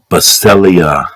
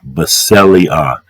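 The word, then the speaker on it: βασιλεία: It's pronounced basileah, basileah, B-A-S-I-L-E-A-H, basileah, or however pronounced it before.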